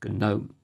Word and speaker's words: GNOME: of Ubuntu with vanilla GNOME. And if you're wondering, it is pronounced GNOME due to the double acronym and has nothing to do with tiny stone goblins.